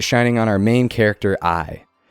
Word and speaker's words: Ai: on our main character, I. As in, aye, Captain, but spelled the same as AI.